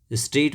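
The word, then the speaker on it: straight: स्ट्रेट माने सीधा, इसमें भी GH साइलेंट है।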